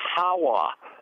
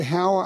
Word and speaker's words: Howa: I heard a lot of people say Howa. I think they pronounce it Hoa, but here's the deal: